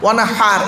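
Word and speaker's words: وانحر: কাউসার ফসল্লি লিরব্বিকা ওয়ানহার ওয়ানহার, এই গলার ভেতর থেকে হয়েটা উচ্চারণ হবে, মনে রাখবেন ফসল্লি লিরব্বিকা ওয়ানহার, এই গলার ভেতর থেকে হয়েটা উচ্চারণ হবে ফসল্লি লিরব্বিকা ওয়ানহার।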